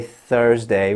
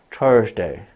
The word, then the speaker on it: Thursday: You must put your tongue between your teeth. Try and say Thursday without putting your tongue between your teeth. Thursday.